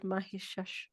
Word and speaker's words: Mahishasura: Yeah, so she's known as sort of vanquishing this buffalo demon, apparently called Mahishasura. Is that the right pronunciation, Priyank?